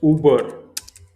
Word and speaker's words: über: Next is Uber. Uber, here you have to use umlaut, two dots over the U.